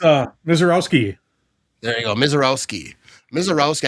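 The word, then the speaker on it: Misiorowski: It's uh Miseroski.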